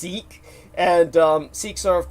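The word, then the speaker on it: Sikh: spelled s i k it's not pronounced sick as many Americans pronounce it it's pronounced seik and um siks are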